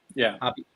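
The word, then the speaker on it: Hoppe: So, yeah, is it Matt Hoppy? Is it Hoppy? Is that pronounced, or is it Hope? Yeah. Hoppy. Yeah.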